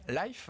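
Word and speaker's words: Lyf: la super app française Life, il le prononce à l'anglaise, historiquement spécialisée dans le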